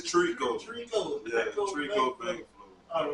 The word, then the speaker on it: Trikoo: I ain't gonna say the first name because I feel like I'm gonna pronounce it wrong. It's Trikoo.